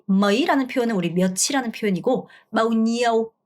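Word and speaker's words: bao nhiêu: 자, 머이라는 표현은 우리 몇이라는 표현이고 마우니오 여러분 이거 발음하실 때 니, 에, 우로 발음하시면 안 돼요. NH는 냐 이렇게 혀를 이렇게 쓸어야죠. 여기 천장을 좀 쓸어야 돼요. 니오, 마우니오 평성 마우니오 아니고 마우니오 이렇게 발음하셔야 돼요.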